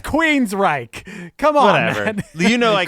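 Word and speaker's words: Queensrÿche: had picked somebody else Queen strike Queen strike are you calling them Queen straight he's definitely calling them Queen strike yeah it's Queen's Reich come on you know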